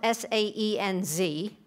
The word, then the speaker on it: Saenz: And Bishop Reuben Saenz, it's spelled S-A-E-N-Z, but Bishop Reuben Saenz will be appointed as Bishop of the North Texas Conference.